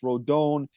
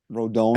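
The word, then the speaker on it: Rodón: say it wrong, dude. Rodon. I think it's Rodon.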